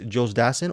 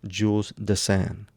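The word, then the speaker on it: Dassin: france i don't know you can also you can call him here in the states jules dassen or he also went by jules de san the sam so anyways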